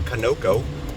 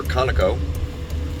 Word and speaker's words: Conoco: $3.51 a gallon at that Conoco, or Conoco, depending upon how you wish to pronounce it.